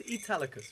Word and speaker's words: Italicus: It's Italicus, right? Of course, this is the pronunciation.